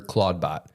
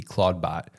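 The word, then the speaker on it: Clawdbot: change the name because it's spelled C L A W D B O T Claudebot, which sounds a lot like Claude, which is Anthropics, um the branding around anthropics language model.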